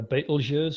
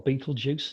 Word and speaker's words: Betelgeuse: star in orion uh betelgeuse or beetlejuice depending on how you pronounce it this is nearing the